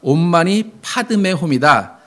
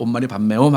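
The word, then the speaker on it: 옴 마니 파드메 훔: 성철 스님이 보다 안 되니까 그 발음 틀렸다. 온만이 파드메 홈이다. 이제부터 온만이 파드메 홈 해라 했는데 50년 지난 지금까지 불교 신자들은 계속 온만이 밤매홈 하고 있다 그래요.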